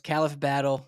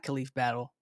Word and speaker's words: Khalif Battle: His name's Khalif Battle. It is how you pronounce it. It's not Khalif Battle. Kind of wish it was, but shout out Khalif Battle.